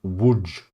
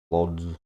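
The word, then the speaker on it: Łódź: We're go we're going to Woodge, which is spelled L O D Z. Lods, but it's pronounced wood.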